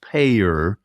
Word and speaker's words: PAEER: 5 letters, PAEER, pronounced PAEER. And, you know, in healthcare, when you say PAEER, heads turn in the room, right? Because we all think about payors.